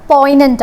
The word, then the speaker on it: poignant: Poignant എന്നല്ല വായിക്കുക, poignant ആണ്, G is silent.